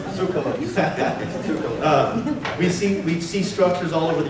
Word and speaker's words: Tsoukalos: And obviously, through the work of Eric von Daniken and Giorgio Tsoukalos, I always say your name wrong, it's Tsoukalos. Actually, it's Miller. Okay. No, it's Tsoukalos.